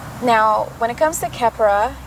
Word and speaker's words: Khepra: when it comes to Keppra kep raw is going to be how you're going to pronounce it that is going to be its original name you will also see it be pronounced as Capri which is okay and